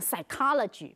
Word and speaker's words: psychology: 特别注意一下这个 stricken，这个字是从 strike 来的，但是这里要念 stricken，请同学们特别注意一下发音，还有 pneumonia 的发音也要特别注意一下，它 P 在前面是不发音的。英文有很多这样的字，好像 psychology， P-S-Y-C-H-O-L-O-G-Y， psychology，心理学，它前面有个 P，但是它也不发音。